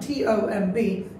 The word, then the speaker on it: tomb: Then এটা উচ্চারণ হচ্ছে camouflage, ওকে, এটা অনেকেই পারবেন না, সেইগুলো আসলে এটা উচ্চারণ TOMB is tomb, B এর উচ্চারণ হবে না, and then BREATH, breath,